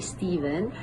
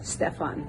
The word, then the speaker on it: Stephen: So then he went on to explain that his name was actually Steven um named after his father. But because of the spelling, the ph um yeah, while he was abroad, everyone would just mispronounce his name and say, "Uh, yeah, that's Stefan. That's not Steven, that's Stefan."